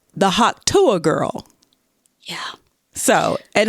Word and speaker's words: Hawk Tuah: girl yeah so and Hawk is spelled like Hawk ha a WK and two even though she said it's Tu it's Tu but it's t a girl Hawk two girl talk to her y